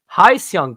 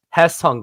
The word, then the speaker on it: Hye-seong: and some say it as heong Kim but here's your Korean lesson of the day it's has Hung Kim now if you want